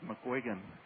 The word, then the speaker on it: McGuigan: your last name with our listeners yes it's mcguigan and how do you spell that lad mcg-u-i-g-a-n Vlad mcquigan and lad I've